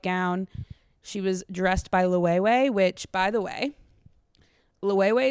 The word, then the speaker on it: Loewe: Loewe. It's definitely Loewe. How do you go about pronouncing this name? It's not Loewe, but rather Loewe. It's Ve. Loewe.